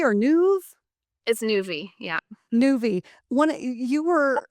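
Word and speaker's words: Nuvve: I'm not sure how to pronounce this. Is it Nuvi or Nuv? It's Nuvi.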